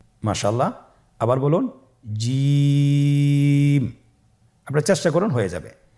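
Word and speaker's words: جيم: আপনারা আমার সাথে বলুন জিম, হা, খ। জিম হরফটি বারিক হরফ, এটা উচ্চারণ করতে হবে 3 আলিফ টেনে। দেখুন আমি কিভাবে উচ্চারণ করছি, আপনারা আমার সাথে করুন জিম। মাশাআল্লাহ, আবার বলুন জিম।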